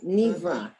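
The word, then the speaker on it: נברא: Okay, Nivra. Okay, Aleph at the end, it's silent.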